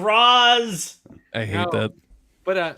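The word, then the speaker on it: Ra's al Ghul: i will kill you it's racial you it's rozz it's the wing dragon of raws i hate that but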